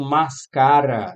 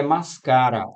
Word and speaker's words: máscara: Não, aqui é máscara. A forte é esta aqui. Olha só. Mascara.